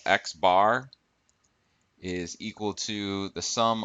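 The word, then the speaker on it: x̄: this symbol right here is the um is pronounced x bar this symbol here is the greek uppercase sigma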